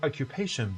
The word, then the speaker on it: occupation: Which syllable is stressed? Occupation A or occupation B? Now the answer reveals in 3, 2, 1. It is occupation. Occupation, British. Occupation, American. Occupation.